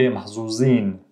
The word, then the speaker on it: محظوظ: the محظوظ you would hear ز محظوظ okay محظوظين تمام but she pronounced it محظوظ proper ولازم أقول لك قديش إحنا But the لازم أقول لك was عامية so there's that hybrid.